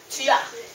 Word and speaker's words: tu as: YOU HAVE, then you say TU AS (pronunciation tya) S is not pronounced in the end of words and u: : TU AS = tya You should preferably have no space between them You do not say: